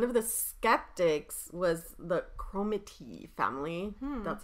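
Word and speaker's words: Cromarty: were skeptics one of the skeptics was the chromakey family that's how you say it a whole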